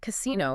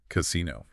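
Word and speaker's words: casinò: In modern Italian, if you pronounce casino without the accent, just the flat, unaccented word. Casino. Right. It actually carries a very negative connotation.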